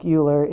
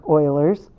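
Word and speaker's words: Euler: So remembering that E equals Oilers's number, even though it's spelled like Uler, it sounds like Oilers's number.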